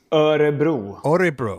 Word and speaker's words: Örebro: Do you pronounce it Örebro, Sweden? Örebro.